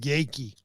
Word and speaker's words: Yakey: It's pronounced Yakey. So, Greg Yakey, I always thought it was Yaki.